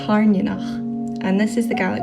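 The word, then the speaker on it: Tairneanach: If you didn't know, most of the dragon names are actually Scottish Gaelic words.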